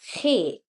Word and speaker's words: ge: Then we have he.